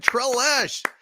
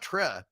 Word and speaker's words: Telesh: Thank you, Telesh. Telesh, not Tre. Telesh, I believe is the way you pronounce it.